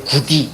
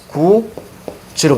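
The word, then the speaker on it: 굳이: 이걸 구디 이렇게 발음하는 사람 없지. 그렇지? 이거 어떻게 발음합니까? 구지로 발음합니다.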